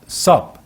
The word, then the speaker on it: sop: 그러니까 예수님은 유다에게 적신 빵 한 조각, 곧 sup, 이제 영어인데요. SOP, sup이란 단어가 이게 습이나 빵 우유에 갖다 적셔서 먹는 빵 조각을 sup이라고 합니다. 그걸 갖다 그건데 스펠링이 SOP예요. SOP, sup을 주셨습니다.